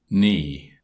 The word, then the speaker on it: knee: public domain table 33 the following words illustrate silent K G WB l T and G H knee Neil knelt now knit